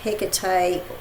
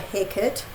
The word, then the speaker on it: Hekate: So here is the book, and I know this goddess can be pronounced Hekate or Hecate. I tend to pronounce the goddess as Hecate.